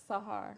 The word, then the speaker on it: Sahar: But what I want to start off with, because I want to make sure I say it right, you said it's Sahar. Sahar. Sahar, okay.